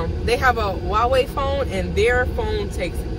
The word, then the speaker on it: Huawei: Somebody has a Huawei phone, so the H is silent. They have a Huawei phone and their phone takes excellent pictures.